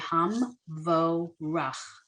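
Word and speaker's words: המבורך: So this is a little tricky, this word, Hamvorach. So we have the first syllable is pretty straightforward, Ham, right? The second syllable, you have the vet with the O.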